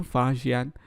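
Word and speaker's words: 法显: तो इसे बोलते हैं फाजियान, जो 1600 साल पहले भारत आए थे, 1600 ईयर्स अगो भारत आए थे।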